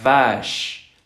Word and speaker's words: vache: Por ejemplo, la vaca se dice la vache. La vache. Vache. ¿Ok? Si les cuesta trabajo, pueden exagerar un poco y sacar los dientes como ratoncito. Vache. Vache. Y poco a poco irla haciendo más normalización. Pero sí, es una V con vibración.